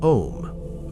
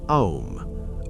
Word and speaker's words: Om: In Hinduism and Buddhism, before all words, there exists a single syllable, Om, or more precisely written, Aum, O U M.